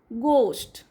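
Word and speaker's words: ghost: आर R site word गोस्ट गोस्ट ह silent गोस्ट that site word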